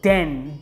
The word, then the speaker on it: Dehn: another six ml and it's called den deh n this is what it